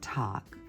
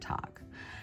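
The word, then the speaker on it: Tagh: And this is a tangle called talk. Uh it's spelled T A G H.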